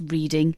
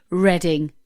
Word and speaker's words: Reading: who decided right and we know that it's spelled the same as the you know the word reading but we're not going to call this place reading we're going to call it reading i'll ask them on